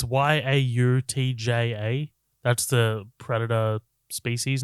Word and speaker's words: Yautja: But I also read that this is supposed to be a different tribe of, I think they're called Yautja or Yotja. I don't know how to pronounce it. It's Yautja.